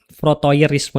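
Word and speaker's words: frotteurisme: Frotoerisme. Dibacanya frotoerisme, ditulisnya proteorisme.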